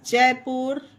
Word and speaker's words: Jaipur: उसी तरह JAIPUR जयपुर। RAIPUR रायपुर, इसे राय पर नहीं जय पर नहीं पढ़ा जाएगा। पुल, पुश, पुट, पुस, जयपुर, रायपुर।